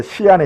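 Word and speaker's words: 西安: 천안문 광장 병마용 이게 시안에 있습니다 중국 서안이라고 쓰고 중국집 발음은 시안이죠 시안 진시황릉 병마형이 다 저도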